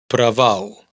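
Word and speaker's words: право: Fijaos que en una palabra como fracaso, y en trabales de la sílaba átona suenan exactamente igual. Pravau trava.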